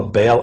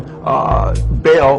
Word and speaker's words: Baal: Je, meaning Jehovah, or the Syriac name of God, as he says, and then Baal, or he says Bel, B-E-L, or Baal, he spells it B-A-A-L, how